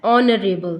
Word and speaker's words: honorable: पे भी क्या है, ऑनरेबल। तो एच क्या है, साइलेंट है, किसका साउंड आ रहा है, ओ का साउंड आ रहा है, और ओ क्या है, वोवल है।